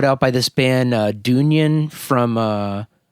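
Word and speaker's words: Dungen: listeners they're from sweden it's d-u-n-g-e-n it looks like it's dungeon but it's dunyan from sweden d-u-n-g-u-n d-u-n-g-e-n g-e-n so not done gun dun gen gotcha i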